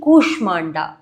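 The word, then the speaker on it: कूष्माण्डा: The fourth one is dedicated to Devi कुषमांडा। यस इन the capital you will feel that slight opening in the mouth when you से show like अ air coming out कुष्मांडा देवी कुषमांडा सुर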